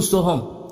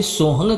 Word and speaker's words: सोहम: जो सोहंग जो सोहम अब इसे सोहंग कहो या सोहम कहो एक ही बात है। केवल उच्चारण अलग-अलग है।